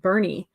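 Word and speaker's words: Boerne: So like in Texas, born is pronounced Bernie.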